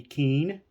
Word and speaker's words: Kuenn: peeve of mine uh people who are unfamiliar with Mr Keane often mispronounces his name as or something similar but it is gonna focus a little bit it is Harvey Keane it's how it's pronounced he was a um